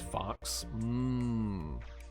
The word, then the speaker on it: Fux: You pronounce it as Fox. But you spelled it like with UX instead of AUX.